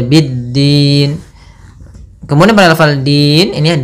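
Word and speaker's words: بالدين: pfal Bidin di sini ada alif lam syamsiyah yaitu alif lam yang ditulis tapi tidak dibaca langsung saja biddin Kemudian pada lafal Din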